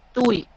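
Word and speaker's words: Tuohy: que se utiliza peridural esto se escribe wow h y pero se pronuncia tui y va del rango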